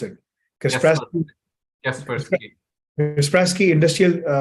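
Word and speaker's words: Kaspersky: एक जो है ना क्रिस्प्रास्की, क्या कहते हैं उसको, हाउ डू you pronounce it, क्रिस्प्रास्की, कैस्पर्सकी।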